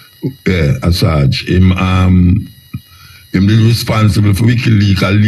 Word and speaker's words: Assange: Julian Assange, that's how I pronounce his name, Assange. Yeah, Assange.